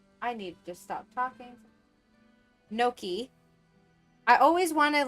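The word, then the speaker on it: gnocchi: like pronounce it as gunoki because it's a g but I know that's not at you the g is silent so it's always like no key note key apple pie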